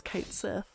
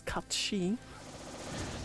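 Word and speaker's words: Cait Sith: Everyone says Kate Sith, but because it's an Irish term, its actual pronunciation is Katshi, if you were doing the correct Irish pronunciation.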